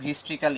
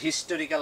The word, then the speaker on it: historical: আবার আরো হইতে পারে in case of হিস্ট্রিক্যাল events, in case of historical events, এটার উচ্চারণ আসলে হিস্টোরিক্যাল হবে না, এটার উচ্চারণ হবে হিস্ট্রিক্যাল।